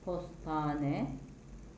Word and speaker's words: postahane: hane ile biten kelimeler yazılışı Postahane olan kelimenin okunuşu postane yazılışı hastahane olan kelimenin